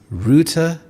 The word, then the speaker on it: router: It is router. There are 2 syllables, router. The American English pronunciation is router, but in British English it is router, and this is a device that connects you to the internet.